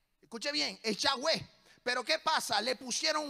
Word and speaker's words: Yahweh: En el escrito original es Yahweh. Escuche bien, es Yahweh.